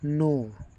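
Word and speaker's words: know: नो के एन O double नो के silent है इसलिए नो बोला जाता है।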